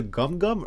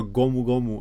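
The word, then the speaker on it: Gomu Gomu: it like that like just say the way it's meant to be either gum gum or gomugomu and that's fine like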